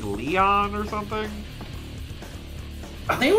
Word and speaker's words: Lion: from sega visions magazine called l-i-o-n but it is pronounced by leon so well there you